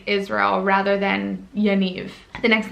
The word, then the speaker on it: Yaniv: unique the next name i have is yaniv yaniv is really cute it's again kind of like